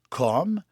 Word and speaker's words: Cosme: le Château Saint Cosme on prononce comm mais ça si on l'écrit c'est C O S M E C hom un domaine